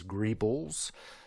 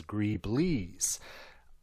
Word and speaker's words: greebles: are known as, collectively, there's kind of 2 different pronunciations of this. Some people refer to them as greebles. Some people refer to them as greeblies. I am firmly in the greebles camp, and I know that's